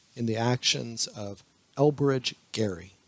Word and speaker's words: Gerry: the actions of elbridge Gary yes he pronounced his name Gary but over time it's been evolved in American discourse to be pronounced Jerry anyway Elbridge Gerry who